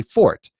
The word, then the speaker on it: forte: poor tape announcer this fort with a hearty and you in Americans we does butcher it right the word is actually fort but if you actually